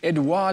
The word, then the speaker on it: Edouard: South African Lauren Parks and her French partner Edouard Leleu, who are now based in the French Alps region of France, which is just outside of a town called Annecy. And it's bonjour to Lauren and Edouard, I believe.